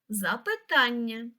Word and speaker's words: запитання: на другий склад завдання наступне слово запитання наголос на третій склад запитання а от дуже цікаве